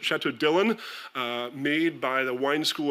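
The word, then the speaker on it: Château Dillon: Bern, Dillon, you can get Chateau Dillon, as the French pronounce it, Chateau Dillon, made by the wine school in Blanquefort, just north of Bordeaux to this very day.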